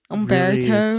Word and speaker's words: Humberto: How do you say Humberto in English? It's Umberto. Really, it's a Spanish name. So we'd say, I think most Americans would say, It's hard. Humberto.